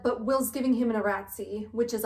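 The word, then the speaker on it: iratze: lost some blood, but Will's giving him an Eratzi, which is like the healing rune. If you hear me say Erats instead of Eratzi, or you heard me say phosphor instead of phosphor, no you didn't.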